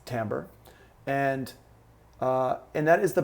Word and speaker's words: timbre: is the Tambor and I know it looks like timbre but it's pronounced Tambor and and that is